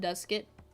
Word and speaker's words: Duskit: do you pronounce duskit i pronounce it duskit you know like dusk and it i don't yeah i